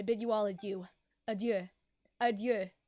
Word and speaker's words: adieu: Adieu. That's how you pronounce it. Adieu. Not adieu, but adieu.